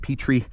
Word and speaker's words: Petry: A little bit of debate on the pronunciation. So I call it Petry. I know some people call it Petry.